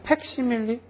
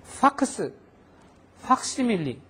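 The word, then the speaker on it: ファクシミリ: 있을 것 같죠 근데 팩시밀리 팩스 해도 못 알아들어요 파스 시밀리 파 발음을 하니까 알아들어요 영어 발음도니까 밀리죠 그죠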